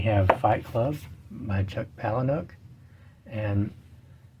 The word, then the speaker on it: Palahniuk: And then we have Fight Club by Chuck Palahniuk, and I think that's how he pronounces his last name. I've heard it pronounced several different ways. Palahniuk's the way I've heard him pronounce it, I think.